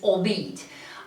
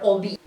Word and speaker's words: albeit: The correct pronunciation is albeit, and that's because it actually consists of 3 words: al, the verb to be, and eat. So altogether, albeit.